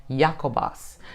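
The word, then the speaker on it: Ἰάκωβος: And then also it says in Greek, his name is pronounced Jacobos.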